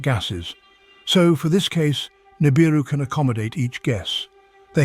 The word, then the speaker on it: Nibiru: Nibiru is pronounced as Nibiru, Sumerian, crossing place or planet that goes across the skies.